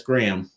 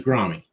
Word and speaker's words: Grahme: And somebody said, by the way, that's Graham. I'm like, well, his name is Grommy. So I changed it, Grahme, which if you do an internet search, it still says it's pronounced Graham.